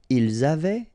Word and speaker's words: ils avaient: Ils avaient, so look here, E-N-T, you write them, you don't pronounce them.